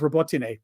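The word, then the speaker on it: Robotyne: about the fact that, and don't even think of correcting my pronunciation of Robotine. Don't even think, because I've had multiple Ukrainians correct me, and I was correct in how I was saying it.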